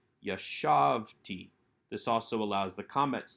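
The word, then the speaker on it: יָשַׁבְתִּי: yod with the tav we do not take the accent onto that final syllable but leave it on the second to last syllable a good rule of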